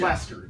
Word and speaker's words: Leicester: He pronounced it wrong. It doesn't matter. He knew who it was. That's it. It's Leicester. It's Leicester. It is Leicester.